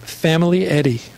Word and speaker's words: Famiglietti: My last name is, we pronounce it Famiglietti.